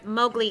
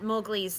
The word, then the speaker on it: Mowgli: So, and answer your question, yes, Scribe, Mowgli is Indian, and Indian is Asian.